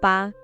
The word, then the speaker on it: 八: It is pronounced as ba.